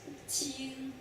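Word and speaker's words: 青: See, each guy have this character, and this is itself is a character, and it's pronounced qing.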